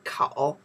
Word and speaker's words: 口: Inside, by itself, we pronounce the kou is the mouth.